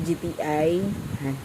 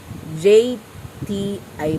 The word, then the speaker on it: JTI: So pagbalik ni GTI JTI pala yun. Ganun pala yung pag-pronounce.